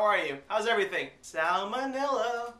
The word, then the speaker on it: salmonella: are you how's everything salmonella it rhymes with vanilla ding ding so i